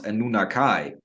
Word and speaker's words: Anunnaki: experience of uh of people know them as the Anunnaki but they actually pronounce a nunakai okay the children of